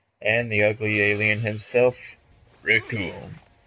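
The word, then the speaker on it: Recoome: And the ugly alien himself, Rikuum. Cause it rhymes with doom.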